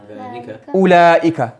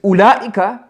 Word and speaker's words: أولئك: Now the thing to remember about this أولئك, this waw is silent. It's not أولئك. It's written, not pronounced. Yes, so this waw, as I was saying, this waw is silent. You don't say أولئك, you say أولئك.